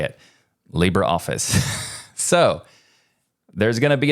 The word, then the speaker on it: LibreOffice: is Libre and just a quick side note Libra office is pronounced Libra not Libre I didn't know that